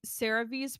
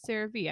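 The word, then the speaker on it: CeraVe: to use I like Cave's products again SRA I've heard cave but in the commercial they pronounce it seravee I did not know that until fairly recently it's like vbo versus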